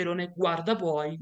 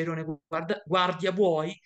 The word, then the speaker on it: airone guardabuoi: attenzione che si dice Erone guarda buoi non si dice Erone guardia buoi perché di solito mi è capitato di vedere questa cosa abbastanza frequentemente il nome corretto è irone guard booy Ma perché si chiama